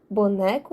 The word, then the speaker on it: boneco: E os exemplos de aula trataram-se de boneco e estudante. Boneco, de trás para frente, co, que seria a última sílaba, e né.